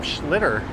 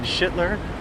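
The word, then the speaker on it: Schlittler: At least Cam Schlitter, a name many people mispronounce and end up saying Schlitler, won't be on the hill for the first few games at least, maybe game three.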